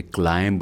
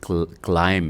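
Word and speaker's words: climb: ये दोस्तों ये वर्ड है, ये क्लाइंब नहीं है, ये क्लाइम है। ये बी जो है ये साइलेंट है।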